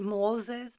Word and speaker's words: Moises: to call him Espinosa it is Moses but it's spelled Moises so it's like like